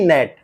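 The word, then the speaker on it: gnat: pneumonia puff की सूजन आपने देखा कि इन शब्दों के प्रथम अक्षर का शब्द में उच्चारण नहीं होता अब इन शब्दों का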